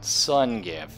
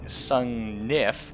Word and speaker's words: Sungnif: Sungif. Which is actually Sungnif, and I never pronounce the second N. I don't know why. Or Sungif.